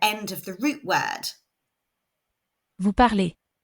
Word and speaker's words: parlez: Vous parlez. Hopefully you could hear that EZ is pronounced A.